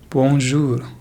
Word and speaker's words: bonjour: So here we have the vowel OU, which is pronounced as ou, ou. So it sounds like jour, bonjour, bonjour.